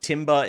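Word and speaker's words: timbre: the voice or some people just call it timber. It's spelled t i m r e. Supposed to be pronounced tambber, but some people do pronounce that differently.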